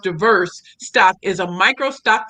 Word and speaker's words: DVRS: Shamiko Early Coleman, DVRS pronounced diverse stock is a micro stock photography collection service focusing on authentic, diverse, and inclusive imagery.